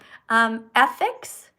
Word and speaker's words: ethics: So, ethics has a TH sound. So to pronounce that, you stick your tongue between your lips like this. In fact, between your teeth, okay? Ethics.